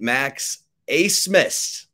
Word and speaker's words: Max Abmas: Very excited to bring into the Flagship podcast interview the one and only Max Abmas. All right, Max, did I pronounce that correctly?